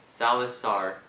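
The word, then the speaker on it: Saloth Sar: on in Cambodia a man by the name Salis star oh my God dud as this was going on as this was occurring in Cambodia I Man by the name Salasar I said it right as this was occurring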